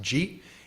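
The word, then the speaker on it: 慈: The other thing to point out, that Maitri character in Japanese is pronounced ji, and the Karuna character is in Japanese, the Chinese pronunciation is hi, and so jihi, jihi no bumo, right?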